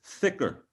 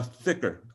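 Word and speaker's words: dhikr: word please good uh thicker um yeah some some people call it thicker thicker ring right thicker yeah yeah you put the put the tongue up to the roof of the mouth right so how do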